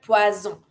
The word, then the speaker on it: poisson: Every time you have the double S, it will always be pronounced the S sound, not the Z sound. Because if you say poisson, it means poison. Here we want to say fish. Poisson. S sound.